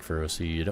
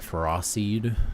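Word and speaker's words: Ferroseed: I like ferro seed or ferocided as I'm learning it's pronounced could be a could be fake.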